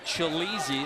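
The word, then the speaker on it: Tshilidzi: his name TSK chai Li Dzi and it's pronounced chil easy but everybody calls him chilly and needed mine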